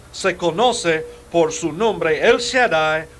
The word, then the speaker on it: El Shaddai: Ahora, la palabra hebrea donde dice Dios Todopoderoso es El Shaddai. El Shaddai. La segunda palabra se escribe S-H-A-D-A-I.